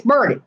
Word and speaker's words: Burnett: But, you know, it's kind of like Burnett, Texas. Burett. All right. To me, it's Burnett. But it's Burnett. And if you say Burnett, they will correct you.